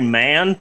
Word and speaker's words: Mahon: the name of Barry Mahon. I'm pretty sure that the H is silent, and his actual name is Barry Mann, but I believe that all letters matter.